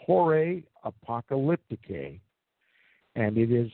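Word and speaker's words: Horae Apocalypticae: and and research that work for yourselves it's pronounced jorah apocalypticae and it is spelled h o r a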